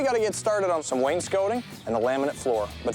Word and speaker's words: wainscoting: Even though it's spelled scotting, apparently it's scoting.